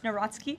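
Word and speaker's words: Nawrocki: He met with Carol Naraki, if I'm pronouncing that correctly. Yes, Natsky. Uh okay, thank you.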